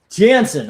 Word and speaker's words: Janson: Jansen.